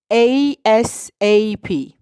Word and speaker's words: ASAP: We pronounce it as ASAP.